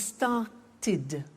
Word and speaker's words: started: group is actually easy if a verb ends with a T or a d then the pronunciation of e d becomes ID and in fact it's